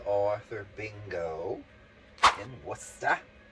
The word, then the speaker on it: Worcester: We went to Worcester, Massachusetts this weekend. I did a B. Arthur bingo in Worcester. Worcester. I said Worcester on some video and Anthony corrected me. It's not Worcester, it's Worcester.